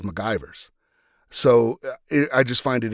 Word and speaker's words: McGivers: He actually mispronounces her name. He says, "Get me the ship's historian, Lieutenant McGivers." And Spock corrects him and says MacGyver's.